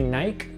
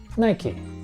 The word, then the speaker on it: Nike: for their shoes and in the UK they might say Nike but in the United States where the company's from we call it Nike this brand is called Nike is there any company